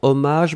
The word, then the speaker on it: hommage: chance et hommage alors hommage bharti fait attention c'est avec un h alors on le prononce pas mais est il